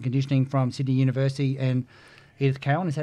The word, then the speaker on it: Edith Cowan: in strength and conditioning from Sydney University and Edith Cowan.